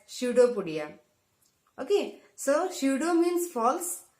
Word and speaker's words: pseudopodia: See the spelling, students, pseudopodia. It starts with P, but the pronunciation starts with S, pseudopodia.